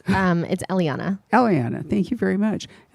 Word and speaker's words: Eliana: Is it Eliana? Almost. It's Eliana.